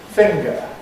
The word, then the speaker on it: finger: singer finger she's a singer this is my finger whereas of course in all other varieties of English they don't rhyme in my own speech